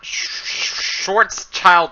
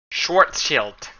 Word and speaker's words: Schwarzschild: like the it's not shorts child radius it's short shield to radius because that's actually of German like savate shields because it's actually a German name schwartz shield like it's actually how